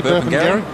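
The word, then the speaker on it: Burpengary: Brisbane Lions Saturday week at uh place called burping gar which I think is about what halfway between Brisbane and the Sunshine Coast y that's right good work I pronounced it correctly burp Gary you've done very well and um Sam Reed's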